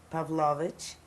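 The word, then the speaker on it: Pawlowicz: by introducing yourself tell us your name and spell it my name is my maiden name is pavlovich p a w l o w i c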